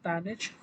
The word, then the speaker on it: tanh: I don't know what the author is trying to uh, imply here, but I pronounce it as TANH, or the hyperbolic tangent.